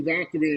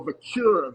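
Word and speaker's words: Vaquer: I was saying the girl Stephanie Valkyrie, and he was like, no, Vicura, Vicura.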